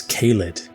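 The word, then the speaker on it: Caelid: are Maiden then there's kalid which sounded quite Welsh to me when I first came across this place I later discovered that K or Kai in how it's pronounced in Welsh means field and lid means inflammation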